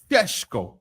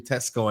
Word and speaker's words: Sesko: Benjamin Sesko. That's how they pronounce the name. You know the ones there. I know people are online trying to get me done on that with a Benjamin Tesco and that, but that's